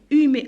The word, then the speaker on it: humer: Alors ER je la prononce E, humer. On ne dit pas humer, on dit humer. Alors parce que toujours le H est muet, la yontaq.